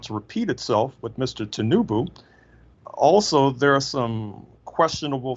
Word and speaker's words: Tinubu: How do you pronounce his name? Tinubu. Tinubu.